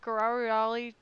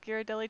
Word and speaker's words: Ghirardelli: right but no they had to try to pronounce Ghirardelli I bet that was good hey can I have a dip strawberry blizzard with guerrarioli chocolate and I was like with yes with Ghirardelli chocolate yes you can Gerard Ollie is was the most what most people said we have some people